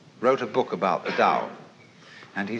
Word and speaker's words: Tao: Paul the Dao Tao pronounced Dao in the Mandarin dialect Tau in the Shanghai dialect toe in the Cantonese dialect take your choice Dao